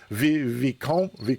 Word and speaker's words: Vicomte: No, Vicomte.